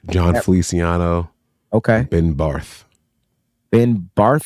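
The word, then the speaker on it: Ben Bartch: fle okay Ben bar Ben bar is that how you say his name yeah okay cool I'm going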